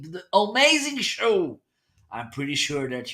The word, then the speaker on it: Homeazin: It's pronounced Homeazin.